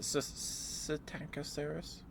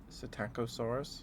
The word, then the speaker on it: Psittacosaurus: Is it Psittacosaurus? Psittacosaurus? Psittacosaurus? Is the P silent? Probably.